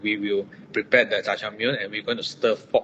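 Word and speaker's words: 짜장면: Jajangmyeon, yeah. Is I pronounce right? Yes.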